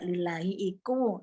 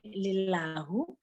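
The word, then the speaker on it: لِلّٰهِ: Kalau diartikan utawi ya jadi mendadak lillahi itu nah hanya punyaan Allah ya punyaan Allah lillahi. Ya kalau li ya bisa hi tapi lillahu salah dia bacanya tapi dia tidak merubah makna.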